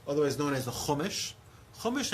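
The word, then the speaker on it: חומש: Chumash, anybody know what that word rhymes with? Chamesh. Chamesh is 5.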